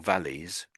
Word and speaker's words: valleys: So, it sounds like you're giving a bit too much emphasis to the why. But so so it's valley or valleys. valleys.